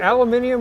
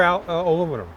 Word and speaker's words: aluminium: Is it aluminium or aluminum? Good question. Aluminium. We're in London.